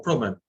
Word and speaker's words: promène: The second e is not pronounced, so we put a grave accent on the first e. Je me promène.